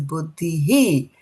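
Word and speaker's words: बुद्धिः: here was um yeah so here this word is buddhi he and buddhi he so why because the h over here has got a dot underneath it okay so some of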